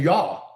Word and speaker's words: Yah: But if you take the Hebrew name and pronunciation, all of those prophets' names end in Yah, Y A H.